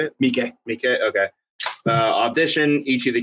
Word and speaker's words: Miike: Miike.